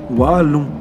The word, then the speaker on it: Wallon: Oh, stade Ernest de Vallon. Stade Ernest de Vallon. Stade. Non, ça tient pas. Vallon. Ah si, c'est ça. Par contre, bah, c'est sûr, c'est ça. Waouh. Parce que Vallon, ça s'écrit W-A-2-L-O-N. Wallon.